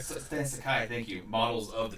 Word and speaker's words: Sakai: Not only that, but they have Stan Sakai. That's not how you say it. Stan Sakai. Stan Sakai.